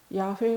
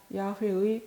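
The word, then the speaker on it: 야훼: 히브리 시기 되면 고유명사 야외에 발음 표기 입니다 정확히 말하면 유다인들이 하느님 이름을 직접 대놓고 발음하기가 소무 스러워 야외 라고 쓰고 아도나이 꽃 주님 이라고 읽는 풍습을 따른 것입니다 우리는 한글로 골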